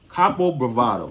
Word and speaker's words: Kapo Bravado: Kapo Bravado. Yes, I said it right. Kapo Bravado, not Bravado.